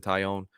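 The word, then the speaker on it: Taillon: That was an awesome game from Jameson Tyone, and I can finally say his name correctly. I always add an L in there, but I keep forgetting they're silent.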